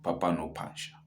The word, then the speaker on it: Phapano Phasha: convo episode with Po the Black Pen and Papano Pasha, right? Did I pronounce that correctly? Yes. Yes, I pronounced that correctly. Papano Pasha.